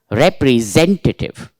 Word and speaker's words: representative: water reprentative Z Zed see I'm pronouncing that z z not s representative Z entive representative it's